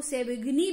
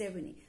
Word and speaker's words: Savigny: von Savigny वैसे आप इसको सेविग्नी भी प्रोनाउंस कर सकते हैं, but right pronunciation is Savigny।